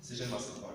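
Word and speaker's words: Sijilmasa: Sejel Massa. Sejel Massa. Voilà. Ouais, Ça prononce J. Sejel Massa.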